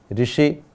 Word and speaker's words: ऋषि: तो आपको भी ये समझना है कि जब रू गुजराती में बोलते हैं लेकिन हिंदी में इसका उच्चारण हमें री करना है, और यहाँ भी क के साथ ये री जुड़ा हुआ है, इसलिए ऋषि।